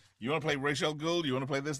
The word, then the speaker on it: Ra's al Ghul: Batman Beyond didn't like he taught Bruce how to pronounce Ra's al Ghul.